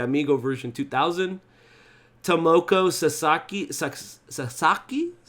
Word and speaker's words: Sasaki: 5 samba the amigo version 2000 tomoko sasaki sasaki is how you say her name she's uh